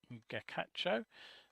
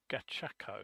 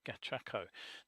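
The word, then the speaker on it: Gachaco: if you remember uh gacho I think I pronounced that no it's G gako that's it must get the pronunciation of that right gako now if you remember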